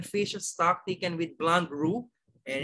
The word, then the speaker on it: roux: we have here the rule okay pronounce nothing rule pronounce rule okay it's roux okay roux is a